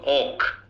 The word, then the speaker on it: walk: এলটা উচ্চারণ হয় না রে বাবা। WALK বলো ওক। Walk. মানে আমরা বাংলাদেশের ওয়াক বলি, ওয়াকও ভুল, উচ্চারণ হচ্ছে ওক।